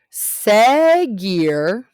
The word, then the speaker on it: seguir: Seguir is kind of like decir. The yo form is sigo. It rhymes with digo.